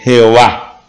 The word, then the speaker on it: Jehová: Y se lee Jehová. Como está acá, ¿por qué se pronuncia con E? Porque la A es una semivocal y coge la primera parte de la semivocal para poner E.